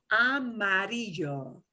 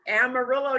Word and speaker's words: amarillo: And here's a multi-syllable word. So we're going to take this slowly. Amarillo. Amarillo. We have a city in Texas named, and the people pronounce it Amarillo, Texas.